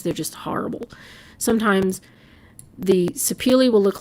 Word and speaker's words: sapele: And you'll hear it pronounced different ways, but apparently sapele is supposedly the correct way to pronounce it.